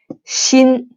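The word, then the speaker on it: 鑫: a different character and the pronunciation or pinyin is here shin i still remember back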